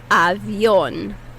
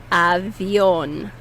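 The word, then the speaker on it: avión: tongue okay airplane is avion avion avion put that emphasis on that oh avion avion practice avion okay the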